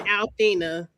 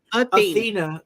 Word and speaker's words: Athena: What's her name? Athena, because it's like a Greek, like the Greek goddess.